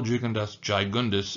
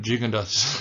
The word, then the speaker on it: Gigondas: little bit of Rosé I used to call jundas gundas only because the wines were so big um and also because I thought it was kind of funny but jig andas is the proper pronunciation vakara uh is another